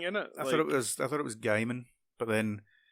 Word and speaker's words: Gaiman: Neil Gaiman. How would you say it, Dom? Neil Diamond, Apparently, the singer. Apparently, it's Neil Gaiman. I always said the whole Ninja Gaiden thing, innit? I thought it was Gaiman, but then like I had an argument with